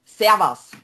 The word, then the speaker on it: Servus: It's Servus.